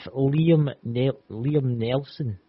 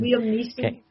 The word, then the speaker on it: Liam Neeson: If Liam Nelson, Neeson. What is that? Neeson. Liam Neeson. That's a kind of pronounce that there.